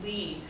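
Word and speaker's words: Lie: it's called a leaning derivative li e is pronounced Lee after a Norwegian mathematician called Marius opus meet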